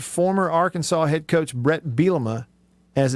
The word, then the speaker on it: Bielema: has been called bret belima you'd be a rich man everybody sees his name and pronounces it they put the emphasis on the wrong syllable every time hey bill you know